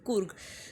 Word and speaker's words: Coorg: It is pronounced as Coorg.